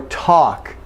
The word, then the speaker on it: talk: Now, in the same way, no L for walk or talk. Okay, no L. Okay, walk and talk, we've got the ah sound for A, so walk and talk, no L.